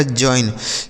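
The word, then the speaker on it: join: Jail J ए आई L next word है दोस्तों जे ओ आई एन तो इसे क्या पढ़ेंगे? जे से हो जाएगा आधा ज ओ और आई का उच्चारण आई एन से ना इसे पढ़ा जाएगा जॉइन।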